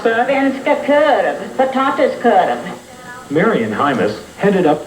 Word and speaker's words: Svenska korv: How do you pronounce that? Svenska korv.